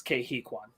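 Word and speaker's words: Ke Huy Quan: site uh but i just checked how to pronounce it it's kehikwan gotcha cool uh what was i saying sorry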